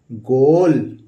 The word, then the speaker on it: goal: GOAL, तो ये हो गया GO से गो और ए साइलेंट है, ल लिख देंगे। क्या हो गया? गोल।